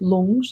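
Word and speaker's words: rlung: these different pronas yeah these lungs in tibetan yeah not lung as in lungs yeah l in tibetan it's spelled r l u n g l anyway these Pras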